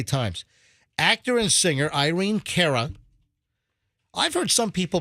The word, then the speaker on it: Cara: Actor and singer Irene Cara. I've heard some people pronounce it Cara. Okay. Also, so over the years, I've heard some in the business say it's not Cara, although most people say Cara.